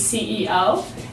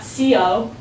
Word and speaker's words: CEO: company usually the boss you say my company's CEO and you pronounce it like that not Co CEO the next thing you might see in